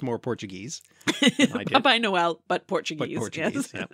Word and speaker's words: Papai Noel: pronounced more Portuguese than I did. Papai Noel, but Portuguese.